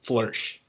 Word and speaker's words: Floersch: I'd like to hear you say it, and that would Yeah, there's eight letters, but there's only one syllable. It's just flourish. flourish. Like Yep. flourish, like to thrive.